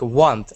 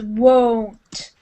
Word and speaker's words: won't: But I can't pronounce this because it's like want. I want. Yeah, yeah. Sometimes people might say it sounds like want, but it's won't. I won't with a long O sound.